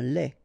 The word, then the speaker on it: lait: Un lait. Okay, so the only difference is final thing here, D, you don't pronounce it, T, you don't pronounce it, so phonetically you only have this lait.